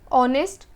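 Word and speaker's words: honest: हिंदी में हा लेकिन इंग्लिश में कई जगह ये साइलेंट होता है तो जहां भी ये साइलेंट होगा आपको एन लगा देना है यूजुअली यही होता है जैसे की कुछ शब्द देख लेते हैं हम हॉर्स हाउस ए रहा है इसलिए ए आएगा अंदर एग्जांपल देख लेते हैं और ओनर ऑनेस्ट और अब इन सब में क्या है हा जो है वो साइलेंट है और या फिर एक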